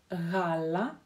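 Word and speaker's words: γάλα: В греческом языке, когда мы видим гамму, просто гамму, буковку, мы ее произносим. Знаете, как на юге в России говорят «г», вот немножко вот так вот как-то глухо «г», «г». На Украине, в Украине тоже это характерное произношение этого звука «г», именно «г», не звонкое «г».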